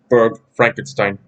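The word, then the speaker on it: Burg Frankenstein: actual real-life frankenstein castle or in german it's pronounced book frankenstein b.u.r.g berg frankenstein and here's the thing about the name frankenstein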